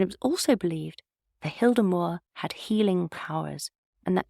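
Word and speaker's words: Hyldemoer: you're Danish forgive me I think it's pronounced Hilder Moore Hy l d m o e r and the hemore was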